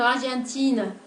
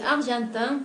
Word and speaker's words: argentin: Por la pronunciación de argentin, para pronunciar argentin, se está produciendo dos sonidos nasales. Una primera que es la A, que aparece en la combinación EN, y otra vocal nasal que es la E1, oui, presente en la combinación IN, argentin.